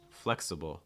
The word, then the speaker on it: flexible: wide raise that front your tongue able flexible flexible watch out for that schw sound in the